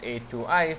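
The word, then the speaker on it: atoi: We call this the A2i pronounced A2i family and the str long stir to long stir to long family.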